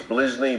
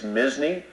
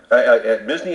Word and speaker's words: Misny: mney people butcher it they'll say okay it's blizzle blizzle and I say it's mney as an M mney as in Disney but with an m